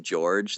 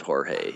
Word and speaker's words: Jorge: If he pronounces his name George, then he's an idiot. So he should just pronounce it Jorge Jorge.